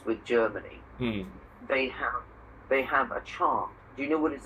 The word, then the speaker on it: chant: In fact, the word chant is a French word. Okay. Which means song. Okay. In French, they say chant, and we say chant. They don't pronounce the T.